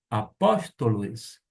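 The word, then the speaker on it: ἀπόστολος: Vamos agora fazer a pronúncia, palavra por palavra, do versículo de número 1. Paulus, doulos, Iesu, Christou, kletóis, apóstolos, aforismenos, eis, evangelion, teu.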